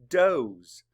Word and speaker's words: does: the sound uh does there actually is another pronunciation it's doze say does and that's talking about female deers are called does spell it d o